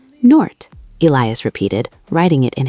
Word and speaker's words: Noord: She pronounced it by stretching the O sound. "Noort." "Noort," Elias repeated, writing it in his notebook.